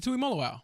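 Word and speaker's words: Tuimoloau: JT Tui Molo. Yeah, JT Tui Molo.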